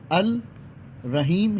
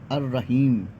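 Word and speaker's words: الرحيم: practice नहीं करेंगे रहीम अल रहीम ही था लेकिन लाम गिर गया अर रहीम अब समझ में आया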